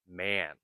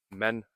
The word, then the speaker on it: man: Another important sound to work on is the A sound in, for example, man. Sometimes people say men or min.